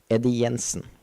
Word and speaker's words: Eddie Jensen: Eddie Jensen, by the way. That's how you pronounce it in Norwegian, which I am.